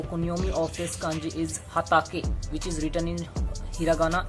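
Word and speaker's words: 畑: Our first meaning is if we are writing this kanji alone without any prefix or without any suffix, then we will pronounce it ha ta ke, hatake, which means a cultivated field.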